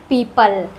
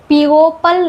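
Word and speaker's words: people: फॉर एग्जांपल इसको पढ़ते हैं पीपल। इसको पीओपल नहीं पढ़ते हैं। यहां पर ओ साइलेंट होता है।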